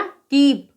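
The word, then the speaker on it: keep: इसी प्रकार से इसका भी उच्चारण क्या होगा, दीर्घ स्वर में होगा ई में, तो ये हो गया कीप।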